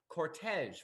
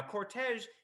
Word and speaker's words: cortege: Now, cortege is interesting in English because it's actually a French word, as you might notice. It's one of those modern French words that is pronounced in the French manner in English, like the word garage.